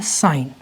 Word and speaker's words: sine: इसका मतलब सिन नहीं होगा, इसको हम पढ़ेंगे साइन। We will call it साइन नॉट सिन, ठीक है।